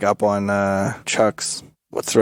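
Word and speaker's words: chock: It's called a chuck, and it's spelled like a chalk.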